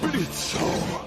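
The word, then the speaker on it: Blitzø: Nous sommes ici réunis pour juger le diablotin criminel, Blitzo. Si vous permettez, monsieur, le O est... carrément là, vous l'avez super bien prononcé.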